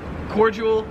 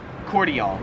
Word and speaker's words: cordial: So yeah, in America we pronounce it cordial, whereas here in Australia it's pronounced cordial.